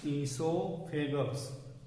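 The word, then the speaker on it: oesophagus: इस स्पेलिंग का आप ध्यान रखें, ये ओ से शुरू होता है और इसका प्रोनाउंसिएशन क्या होता है, ईसोफेगस।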